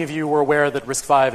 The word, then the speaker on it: RISC-V: you were aware that risk five is actually pronounced risk five and not risky it's actually pretty good